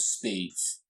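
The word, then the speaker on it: SPDZ: we have an MPC protocol called speeds which is spelt espied easy for the authors which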